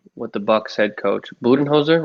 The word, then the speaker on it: Budenholzer: Yeah, I mean, I'm curious to see what the Bucks head coach Budenholzer, right? That's how you pronounce his name.